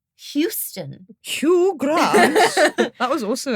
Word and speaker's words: Houston: Hugh, as in Hugh Grant. Houston.